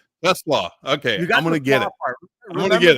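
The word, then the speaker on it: TeSlaa: keeps standing out is T-Slaw, correct? Am I saying that? Pronouncing it correct? Tesla. Okay, I'm going to get it. I'm going to get it. Yeah, remember coleslaw, but the nickname's coleslaw, so Tesla.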